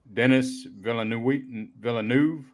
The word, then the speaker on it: Villeneuve: But man, come out in 2015, had a budget of 30 million, made 85 million, directed by Denis Villeneuve.